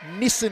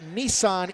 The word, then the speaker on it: Nissan: H I know that the car is known as Nissen in Australia Nissan in Japan in the USA blast